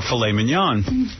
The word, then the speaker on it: filet mignon: So they say you can get succulent, lobster, or filet mignon.